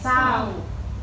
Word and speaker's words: เศร้า: ค่ะ คำ ว่า อะไร คะ นัก เรียน เศร้า เด็ก ๆ สังเกต นะ คะ ว่า ส